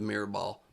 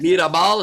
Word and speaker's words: Mirabal: I was just asking on account of the mirror ball. Yeah. Yeah. That's how to pronounce my name, but yeah, no, unfortunately it means nothing in real life. Mirabal, is that how you say it?